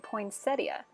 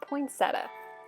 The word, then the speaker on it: poinsettia: making handmade poinsettia ornaments yes you heard that right poinsettia not poinsettia i just found out i've been pronouncing that word wrong my entire life anyways these are beautiful